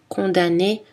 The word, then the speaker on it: condamné: les deux amnésique amnesty attention dans les mots automne condamné on prononce seulement le n à la fin des